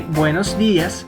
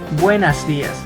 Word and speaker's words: buenos días: Remember to say buenos días, not buenas días.